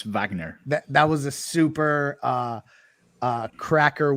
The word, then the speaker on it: Wagner: I appreciate you correcting me here that it is pronounced Wagner, not Wagner. He's German, so it's Wagner.